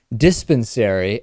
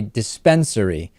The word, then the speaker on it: dispensary: Also, Lewis has advised me during the break that I said dispensary and that it is actually a dispensary.